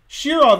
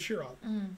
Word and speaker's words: Shirov: wrong and so forth shirov is correct they said shiron okay now you will